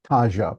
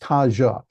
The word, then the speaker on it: Taja: It's called Taja, pronounced Taja.